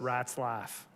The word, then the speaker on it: Ratzlaff: Mice giggle, but rats laugh. That's how he taught me how to say his name when I first got up here.